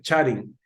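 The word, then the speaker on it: χάριν: tenemos allí al final Aunque usted ve una V en realidad no se pronuncia como V sino como una n en griego no Entonces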